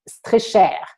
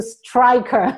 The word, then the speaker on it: Streicher: It's easier because in the US, not everyone can use the French way, which would have been Streicher. But I changed it to Striker.